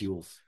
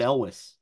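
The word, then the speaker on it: Elwes: watch Carrie ules is is it ules U Elis Elis whatever oh maybe it is ules I've always said Elis I think it's Carrie ules but anyway oh in which case I've been pronouncing his L name long wrong for years I'm sorry Carrie he's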